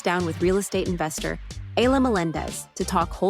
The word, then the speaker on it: Ayla Melendez: So, if you could please help me give a big warm welcome to my special guest, Aya Melendez. Is that correct, Aya? Am I pronouncing your name right?